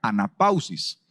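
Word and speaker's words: ἀνάπαυσις: Viene de una palabra griega que se pronuncia anapausis, que significa reposo, descanso, pero también significa recreación o vida, ¿verdad?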